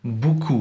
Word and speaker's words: beaucoup: Well, and those silent letters are sneaky little ghosts, like in beaucoup, where the P just vanishes, or faut pas, where the X and the S, who needs them anyway?